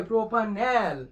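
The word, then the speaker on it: propanal: কি প্রপোপা এই যে প্রোপানেল ঠিক আছে উচ্চারণ হবে কি প্রপানেল আমার প্রোপানেল এদিকে চলে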